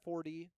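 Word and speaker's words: Forde: Ashlyn 40. And it's pronounced Ford, like Ford the car, and then E at the end, 40.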